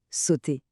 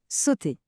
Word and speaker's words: sauter: Notez bien que le e r à la fin des verbes comme celui-ci est mué. On dit simplement sauter. Répéter sauter.